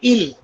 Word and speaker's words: ils: This one ILS, pronunciation ill. Meaning is they for masculine.